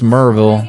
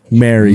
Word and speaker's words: Maryville: If you're from there, it's Merville. Merville, yeah. But it is spelled like Maryville.